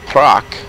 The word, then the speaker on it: Praha: is actually spelled p-r-a-h-a as in but they pronounce it proc like they'll say the prop castle and proc